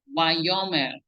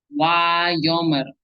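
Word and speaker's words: וַיֹּאמֶר: Wayomer Ishad al Abraham. Wayomer Ishad al Abraham. So we can see again here in the English phonetics, it is pronounced wa and not va or ve.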